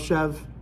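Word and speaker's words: chèvre: this um but the chevra is definitely the chef chev is the correct way to pronounce it by the way but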